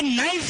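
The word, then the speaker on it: knife: ये नाइफ है, कनाइफ है, नॉलेज है, कनॉलेज है, साइकोलॉजी, फाइकोलॉजी है। पी साइलेंट है, के साइलेंट है।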